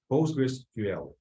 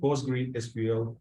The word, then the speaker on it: PostgreSQL: uh post Breeze ql this is how this database is pronounced postgresql not post green SQL postgres ql and finally